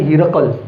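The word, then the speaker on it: Heraclius: In Arabic they say Herakl, and that's basically his Arabic name.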